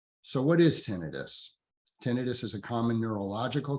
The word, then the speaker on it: tinnitus: it it is pronounced tinnitus with the emphasis on the first syllable the ten um tinnitus is in the common lexicon people many many people pronounce it tinnitus um that's okay too